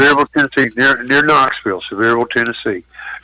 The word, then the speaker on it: Sevierville: How do you pronounce it? Sevierville, Tennessee, near Knoxville, Sevierville, Tennessee, near Gatlinburg and Pigeon Forge and all that.